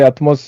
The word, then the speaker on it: ATMOCE: Alors, Atmos, c'est pas nous, c'est pas ma boîte, c'est Atmos, un autre fabricant. C'est une filiale de Huawei qui s'écrit ATMOCE.